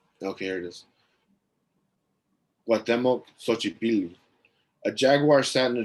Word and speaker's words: Xochipilli: Xochipilli. Right? Like Xochitl. Okay. Yeah. Xochipilli.